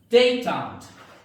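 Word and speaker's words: détente: डेटेंट, डेटेंट भी एक French word है, और डेटेंट इसका प्रोनाउंसिएशन फ्रेंच लैंग्वेज से लिया गया ये वर्ड।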